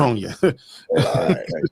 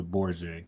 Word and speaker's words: Borgia: Bronya. You saying it wrong? It's Caesar Borgia.